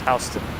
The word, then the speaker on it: Houston: in texas but in new york this is pronounced houston um yeah so you got to apply for